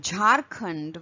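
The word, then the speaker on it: Jharkhand: When we speak English word like jarund which is name of a state in India, it is pronounced as j and again this is aspirated version of the previous one that is j.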